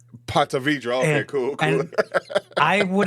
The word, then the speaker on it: Ponte Vedra: It's Ponte Vedra. Ponte Vedra. Okay, cool. And I would have butchered the name before I lived there anyway, so all good.